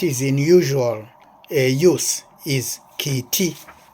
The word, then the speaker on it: kiti: the one that is in usual use is kiti, kiti, spelled K-I-T-I this way, K-I-T-I, kiti, that is for cat.